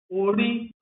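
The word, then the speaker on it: orí: Nós temos, por exemplo, ori, ori, com tom médio e alto, para identificar alma, essência, cabeça de uma pessoa.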